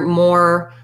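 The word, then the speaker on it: mow: about the word mo that rhymes with the word o so just thinking about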